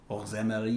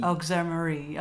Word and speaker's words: Auxéméry: Auxéméry. Auxéméry.